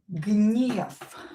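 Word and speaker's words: гнев: You can hear that I pronounce this V here as F because voiced consonant which is located at the end of the word will become unvoiced. V will become F. We are going to pronounce it as F.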